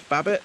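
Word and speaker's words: Babet: we've had storm storm B bet is how you say it babbit it's course around my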